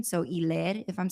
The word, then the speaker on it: Hilaire: Evidently, it's like French pronunciation. So Hilaire, if I'm saying that right.